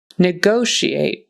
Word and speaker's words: negotiate: Negotiate. Negotiate. Long O in the middle there.